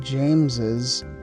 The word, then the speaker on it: James's: player lebron james and when we put the apostrophe s we have lebron james's team again we add an extra syllable lebron james's team and